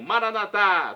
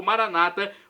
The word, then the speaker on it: Maranata: E agora do aramaico, dialeto de Jesus, eu clamo Maranatá, como dizemos nós católicos, ou Maranata, como dizem nossos irmãos separados, os evangélicos ou protestantes. Não importa a pronúncia, o significado é o mesmo.